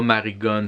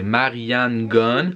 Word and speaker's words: Marianne Gones: dit il son nom c'est pas marie gones c'est marianne gones sais juste que quand